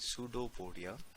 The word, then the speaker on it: pseudopodia: ठीक है जी, हम यहाँ लिख लेते हैं कि सूडोपोडिया, ठीक है, पी जो है वो हम इसमें नहीं पढ़ते, दैट इज साइलेंट। हम पढ़ते हैं सूडोपोडिया।